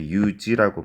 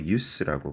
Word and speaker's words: use: 자, 그리고 여기서 use는 동사가 아니라 명사입니다. 그래서 use라고 발음하지 마시고 use라고 발음하세요.